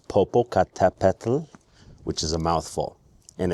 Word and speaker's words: Popocatépetl: This volcano, active volcano, is called Popocatépetl, which is a mouthful.